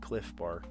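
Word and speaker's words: Clif Bar: It's spelled bizarrely, but cliff bar.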